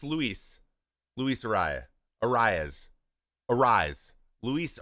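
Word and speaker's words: Arráez: Arias. Arise. Luis. Arise is how it's pronounced.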